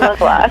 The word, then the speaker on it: Langlois: Yeah, Langlois. It's French. Yeah, it's Langlois.